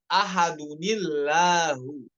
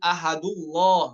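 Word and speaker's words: أَحَدٌ اللَّهُ: fil jalalah pada lafaz jalalah Allah ya watq ahadunillahu ahadunillahu waam lazul jalalah agar terjaga eh apa ee tipisnya huruf lam pada laf pada lafaz Allah bukan ahah bukan namun ahillah ya Dikarenakan sebabnya seperti ituallahu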